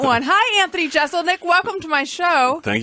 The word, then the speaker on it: Jeselnik: But Jeselnik is the way to go. Okay. Yeah. Yeah, I don't know why I thought that perhaps it was Jezel, like guzzle. People say it like that a lot.